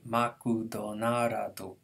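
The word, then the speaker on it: マクドナルド: So McDonald's would be makudonarado. Makudonarado. So McDonald's is three syllables in English. It's six in Japanese.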